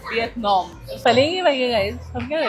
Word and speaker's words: Vietnam: And the next stop is Vietnam. Nope, it's Vietnam. That's how you pronounce it. Vietnam.